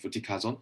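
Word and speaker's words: fluticasone: other corticosteroids for instance from buddhist knight to kluti kazan what do you think i hope i got that pronounced right yeah that's right uh buddhisonite and futicazone so basically why people want to change this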